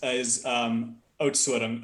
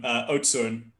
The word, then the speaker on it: Oudtshoorn: You're not going to be able to pronounce it, but the closest is Oudtshoorn. Oudtshoorn.